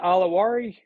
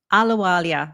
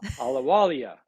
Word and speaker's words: Ahluwalia: Do you pronounce that Alawari? Ahluwalia. Very close. Ahluwalia.